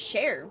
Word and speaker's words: Seir: But Seir did not die. Her heart still beats. So she's a ghost of a living person. Oh, it's pronounced share.